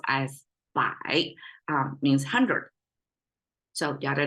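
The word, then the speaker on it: 百: Right side pronounced as bai, means 100.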